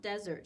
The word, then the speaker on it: Desert: an island called Mount Desert she she pronounced it desert ice cream cookies brownies pudding fudge say